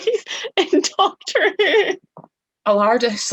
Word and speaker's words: Allardice: Allardice, like the Tardis.